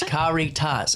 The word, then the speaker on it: Caritas: So I don't know how to pronounce it. I know everything about the organization. Caritas. Okay, so no, it's Caritas.